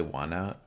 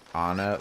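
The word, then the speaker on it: Onett: I was like, I always just pronounced it like on it. Like the words on it.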